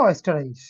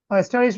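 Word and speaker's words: Österreich: ठीक है ओके ठीक है अभी सुनेंगे ऑस्टराइज ऑस्टराइज मतलब ऑस्ट्रिया बोल के जो देश है ना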